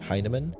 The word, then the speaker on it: Heinemann: we have a cool guest my friend Matthew heinan am I pronouncing that right hinaman yes okay sweet I think I spelled it